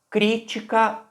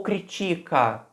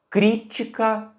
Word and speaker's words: crítica: Será que eu falaria com a ênfase um pouco antes? Pronúncia, denúncia, crítica? Ou eu falaria a palavra com a ênfase mais no final?